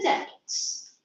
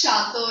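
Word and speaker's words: château: pitchforks and attacked the Chattoks. What's that? Chattoks is the place where that lords live. Feudal castle It's and pronounced chateau in French. I learned French. Chateau.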